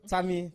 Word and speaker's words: Tammy: stick to Tammy so Tammy two syllables can't be any simpler for anybody.